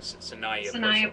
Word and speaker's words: Saniya: Did I pronounce that right? Saniya. I'm sorry, Saniya Purcell.